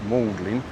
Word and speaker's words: Magdalene: these ones going down Molding Street now you may see it says Magdalene Street but it's actually pronounced Moldlin in another one of those weird English words where you've got silent letters in it.